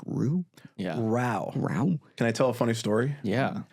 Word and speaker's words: Rou: It's Rowe Reynolds. Like the pasta sauce.